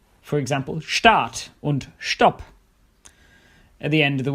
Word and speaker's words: Stopp: s like phos S at the start of a word this sounds like for example on stop at the end of